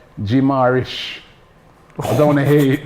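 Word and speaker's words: Guimarães: Not Bruno Guamirez. It's Bruno Garish.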